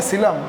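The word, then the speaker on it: coelom: पर सिर्फ ग्रेविटी का दूसरा नाम है सीलम ठीक है शिलांग भी बोल सकते हैं जिसमें का ओ साइलेंट है ध्यान में रखना का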